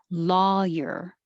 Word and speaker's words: lawyer: This came up as contrast to number 7, lawyer, and number 13, liar. So your tongue goes up very high. Liar. And in 7, your tongue stays flat. Lawyer.